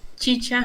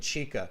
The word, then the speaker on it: chicha: carolina i'm canadian and i kept pronouncing it chica how much how much how much chicha do you think i've